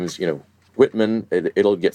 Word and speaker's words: Whitman: For most English speakers these days, WH is pronounced just exactly the same as W. I think our family has preserved the distinction because it's in our name. When I say, “My name is Whitman, it'll get spelled W-I-T-T-M-A-N